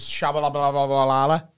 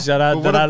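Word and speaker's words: Tshabalala: No, but what's, how did you pronounce Shabalala. It? Shabalala. It's like Bananarama.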